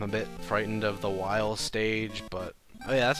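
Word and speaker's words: Wily: was calling Dr while Dr Willie which was incorrect and they said it's said like Wy coyote so it's apparently while I think that's a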